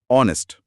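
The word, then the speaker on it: honest: Word दिख जाता है स्पेलिंग एच से शुरू होती है पर एच साइलेंट होता है तो आवाज ओ की आती है ऑनेस्ट जो कि एक स्वर है।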